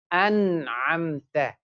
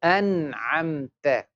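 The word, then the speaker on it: أَنْعَمْتَ: An'amta. Very good. An'amta. Same way, example, so after noon sakin tanween, if ha comes, ghain comes, or kha comes, we pronounce the noon.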